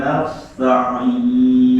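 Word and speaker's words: نستعين: Kanastain, jangan sampai jadi konos. Coba lagi. Iya. Iyyaka na'budu wa iyyaka nasta'in. Nah, sinnya jangan diangkat lidahnya, nanti jadinya sod.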